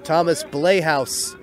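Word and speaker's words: Blaihouse: He'll bring up the number 7 hitter, the first baseman, number 16, Thomas Blayhouse. It is spelled B-L-A-I-H-O-U-S-E.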